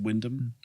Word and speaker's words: Wymondham: Wymondham. Yes, Wymondham. Just totally abbreviated to Wyndham.